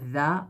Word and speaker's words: ذ: جہاں پہ ثا بولتے ہوئے زبان نکالتے ہیں وہیں پہ ذا بولتے ہوئے زبان ہمیں نکالنا پڑے گا. تو ذا بولتے ہیں.